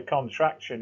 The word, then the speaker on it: contraction: So that short form word also tells us it's called a contraction. In grammar, the short form word is called a contraction. Contraction. CONTRACTION. And when we pronounce shun, TION, always pronounce it as shen.